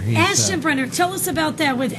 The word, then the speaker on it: Aschenbrenner: Aschenbrenner. Aschenbrenner.